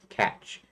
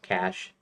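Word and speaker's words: cache: I used to say niche and I used to call cash catch because I'm American and I'm not French and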